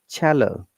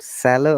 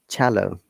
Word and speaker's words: cello: This specific word starts with C though, but it has got cha sound. This is an exception. It is cello, not sallow or shallow or callow. So it is cello.